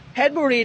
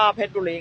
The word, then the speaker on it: เพชรบุรี: Welcome to เพชรบุรี เพชรบุรี นี่ อ่าน ได้ 2 แบบ ใคร จะ อ่าน ว่า เพชรบุรี ก็ ได้ เพชรบุรี ก็ ได้ Don't